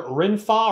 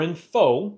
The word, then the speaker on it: RENPHO: first to know and you pronounce the company name either renfa or info and just like all